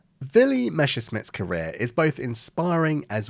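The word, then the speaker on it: Messerschmitt: fighter to begin with Q the excellent German pronunciation villy meses Smith's career is both inspiring as well as truly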